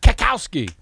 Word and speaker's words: Cackowski: I believe she pronounces it. Schaal. Say Craig both A's. Cackowski.